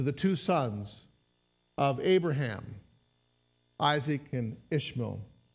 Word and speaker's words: Isaac: born some years before isach or Isaac excuse me was was born that was a little Spanish pronunciation that slipped out there it sometimes does that